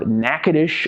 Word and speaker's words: Natchitoches: actually located in the town of NACA dish Louisiana and yes that is how you pronounce it took me some